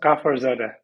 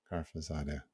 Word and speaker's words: Ghafarzade: It's pronounced Ghafarzade. Ghafarzade. Thank you very much. Ghafarzade.